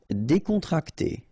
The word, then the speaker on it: décontracté: Décontracté. Okay, so you've got accent aigu here and here, so it's E.